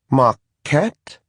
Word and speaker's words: Marquette: "Marquette?" He stumbled a little saying the name, I guess because the stress was on the last syllable, and Fenarian never does that.